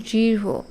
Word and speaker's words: দৃঢ়: উচ্চারণটা একটু আলাদা হচ্ছে যেমন দৃঢ় গাঢ় আমরা সাধারণত কেমন উচ্চারণ করি দৃঢ় গাঢ় এরকম অর্থাৎ শুধু র কিন্তু আসলে শুদ্ধ উচ্চারণে কিন্তু একটু হ এর অস্তিত্ব আছে কাজেই এই শব্দগুলোর উচ্চারণ